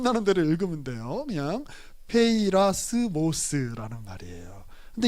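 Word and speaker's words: πειρασμός: 자, 그대로 그냥 발음 나는 대로 읽으면 돼요. 그냥 페이라스모스라는 말이에요.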